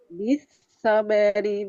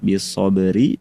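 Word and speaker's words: بالصبر: Jadi bacanya ketika waqaf suara huruf ro apa bunyinya sukun bisabr. Tapi ketika disambung karena kita ingin hendak mengamalkan cara yang kedua maka rnya dibaca sesuai dengan harakatnya kasrah bisobri sambung dengan bismillah kemudian sambung ke wailun ya.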